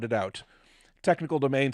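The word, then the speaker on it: Teknikal: admit I I had to sound it out technical domain says I'm just more amazed you pronounce my name right I'm like I literally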